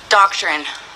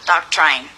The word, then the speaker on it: doctrine: Doctrine, not doctrine. But it's spelled like it could be doctrine.